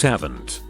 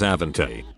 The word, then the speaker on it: Avante: boy in our school named avante pronounced haven't mother insisted the accent made the e silent she would come completely and glued when anyone said his name wrong lady that's avanti update ikr i have